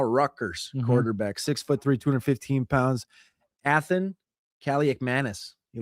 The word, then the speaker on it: Athan Kaliakmanis: Athan Kaliakmanis. You like that one? I know that pronunciation because my brothers asked me 100 times.